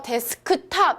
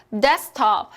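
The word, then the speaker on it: desktop: 자 , 여기 서 " 데스크톱 " 이라 고 해야 할까 요 ? 아니요 . 세 개 가 있으므로 중간 발음인 " 데스크톱 " 을 제외 합니다 . " 데스크 롭 ".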